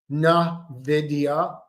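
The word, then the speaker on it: Nvidia: Nidia, that's how it's pronounced. You have to annunciate the N. Na na.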